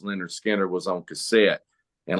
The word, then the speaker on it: Lynyrd Skynyrd: but uh like miles my first version of pronounced Leonard Skinner was on cassette and like he said Freebird